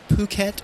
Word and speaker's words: Phuket: I guess the first thing we should get out of the way, do we pronounce it Phuket or Phuket?